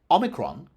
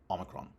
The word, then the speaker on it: omicron: Moving further on, in America, variant H, omicron, lengthens the initial vowel of the word, omicron. In Anglo-Latin, that is not meant to happen in a third last syllable.